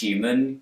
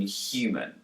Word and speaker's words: human: But in New York accents, the H is dropped and we're left with U. Listen to Theresa May pronounce the H in human.